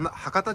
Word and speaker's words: 羽方: こういう名前です羽羽方型神社と書きては博多神社と読むらしいですねやっぱりちょっと調べ